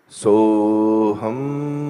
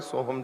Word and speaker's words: सोहम: अच्छा, इसका जो उच्चारण है वो ओम जैसा ही है। ओम। अब मैं सोहम बोलूंगा, सोहम।